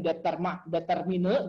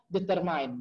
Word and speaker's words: determine: Jadi salah satu kata dalam bahasa Inggris yang kita paling banyak salah, mungkin 95% orang Indonesia disodorin determine gitu ya, bacanya determine gitu ya.